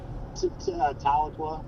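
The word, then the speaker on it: Tahlequah: Dude, I like those storms by How'd you pronounce it? Taloqua.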